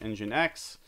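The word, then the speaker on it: nginx: did was then did pseudo certbot um D- engine X spelled I NG NX I know it's a silly name to pronounce it-d and then the name of your.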